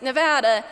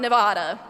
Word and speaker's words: Nevada: She's probably spent a lot of time telling people it's pronounced 'Nevada' not 'Nevaduh.'"